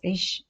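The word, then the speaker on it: ich: about subject singular for I we say as ish in German i c h ish for you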